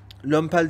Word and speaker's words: Lomepal: Lömpel diye okunuyor aslında.